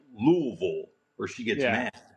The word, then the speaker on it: Louisville: You have to say it like Louisville, or she gets Yeah.